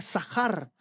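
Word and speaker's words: זכר: Y esa palabra la pongo en rojo porque es viene de la palabra sacar que se pronuncia sahar.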